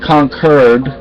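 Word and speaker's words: Concord: places like that and they pronounce it concur even though conord yeah so I mean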